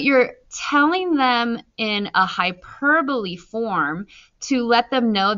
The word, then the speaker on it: hyperbole: It's pronounced as hyperbole. So hyperbole.